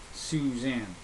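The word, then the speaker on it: Sioux Zan: And the tune that we used is actually called Suzanne, but it's spelled Sioux space ZAN, Suzanne.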